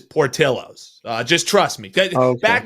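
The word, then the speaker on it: Portillo's: the pronunciation is wrong typically it would be Portillo but no this is Portillos uh just trust me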